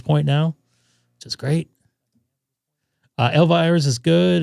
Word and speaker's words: Elvira's: Elvira's is good. It's pronounced Elvira.